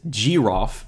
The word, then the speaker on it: groff: Or, well, someone is going to interject for a moment because it's actually pronounced groff. G is in GNU, of course.